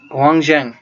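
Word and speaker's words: Hiuen Tsang: तो हर्षवर्धन के समय में चाइनीज ट्रेवलर जो थे ही वाज हुआंगजैंग, ठीक है।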